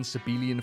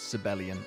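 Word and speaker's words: Sabellian: take it for granted I've been calling sibelian sebelian for years it's sibelian apparently I don't know the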